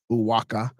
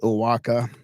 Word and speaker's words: Oaxaca: The most astonishing remains are found still further south in Chiapa, Tabasco, Oaxaca, Oaxaca. I got that one wrong. That's Oaxaca.